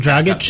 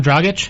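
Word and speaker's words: Dragić: Goran Dragage. Yeah. Dragic. Oh, maybe maybe he is. Maybe he is. My bad. How do you say that? Goran Dragitch. Dragic. Dragitch. Dragitch. Yes. Dragitch.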